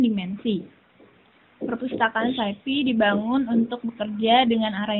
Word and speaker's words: SciPy: SciPy diucapkan SciPy adalah software open source untuk matematika, sains, dan rekayasa.